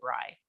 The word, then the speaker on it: Brey: we were talking about everyone pronouncing my last name is brae instead of rye but that doesn't feel